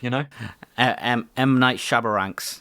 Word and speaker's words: M. Night Shyamalan: like a 5,000 foot drop to your death, M. Night Shyamalan. Yeah. Yeah. That's the correct way to pronounce it.